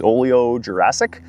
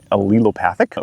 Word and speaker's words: allelopathic: Also, the rye that we have here specifically is Oleojurassic. And so, what's the word again? Becky taught me how to pronounce that it is allelopathic, which one of the side effects of that